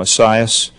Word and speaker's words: ASIAS: And let the record note that we say the acronym ASIAS, and that's how I'll pronounce it.